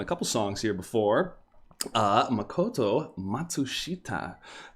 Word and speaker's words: Makoto Matsushita: Makoto Matsushita. Been saying that name wrong. I forgot the little extra S in there for a while.